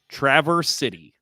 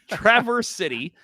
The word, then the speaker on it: Traverse City: season, let's see if I say it right, Traverse City. Right? You got it right this year. Boom! First time for everything. Traverse City.